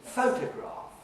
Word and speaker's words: photograph: The third word there is photograph. And again, it's the first syllable which is louder, longer, more prominent, more audible than the second or the third syllable.